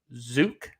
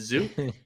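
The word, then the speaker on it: Zeuch: marlins versus the yanks tj zuke as in close to puke but it's a zoo so there you go tj zoo at the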